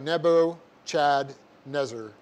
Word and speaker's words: Nebuchadnezzar: e z z a so it looks like nebo chad nezer and you guys should all remember this one